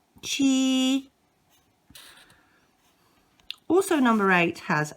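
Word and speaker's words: 七: is number seven and it's pronounced chi and it's accent number one chi also number eight has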